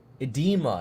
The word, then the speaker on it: edema: it's spelled like Eda but let me see edema is how it's pronounced EMA okay love that app just go